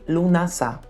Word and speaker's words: Lughnasadh: Mas só para falar que de acordo com minhas pesquisas, a pronúncia correta é lamas mesmo e lunassá, que esse sabá também é conhecido como a primeira colheita, a festa do pão.